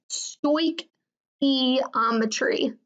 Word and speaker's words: stoichiometry: Yes, this word that is right here is pronounced stoichiometry.